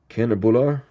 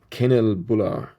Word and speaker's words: kanelbullar: Kanelbullar, emphasis on the third syllable. Kanelbullar, I think that's how you pronounce it.